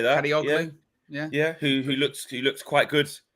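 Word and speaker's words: Kadıoğlu: United want Kadioglu, I call him Kadioglu. Yeah, I think that's pretty close. I say that. Kadioglu.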